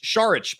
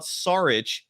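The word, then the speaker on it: Šarić: But his last name is not Saric. It's Saric. The S is actually pronounced like an SH.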